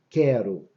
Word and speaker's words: quero: Olha como é que é diferente da palavra quero. Quero. A gente não pronuncia o U, eu não escuto o som do U. Quero. É como se fosse um K e o E. Quero.